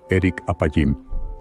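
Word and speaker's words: ארך אפים: profundidad de este misterio la frase lento para la ira en hebreo se pronuncia Eric apim o literalmente largo de nariz Pero qué tiene que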